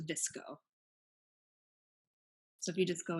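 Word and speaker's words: VSCO: it's spelled case you care care if it's pronounced disco so if you just go into your App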